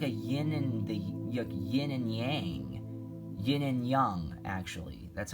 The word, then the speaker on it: yin and yang: Yin and yang, actually. That's how it's pronounced.